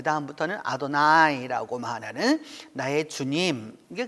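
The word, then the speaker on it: Adonai: 받아 들여서 그 다음부터는 아도나이 라고 말하는 나의 주님 이게 그 주님께서 라고 이렇게 대원 했던거죠 쓰기는 여호와 라고 썼지만 읽을 때는 아드 나이라고 읽었던 것이죠 하나님은 그 2 출애굽기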